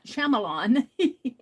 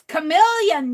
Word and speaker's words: chameleon: I was pronouncing chameleon as chamelon. And going, it's chameleon, Meri.